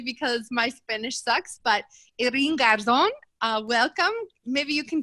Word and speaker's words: Irene: Irene, that's how you pronounce my name in Spanish.